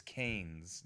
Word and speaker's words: Keynes: Some people mispronounce it as Keynesian. I don't know. It's Keynes, John Maynard Keynes.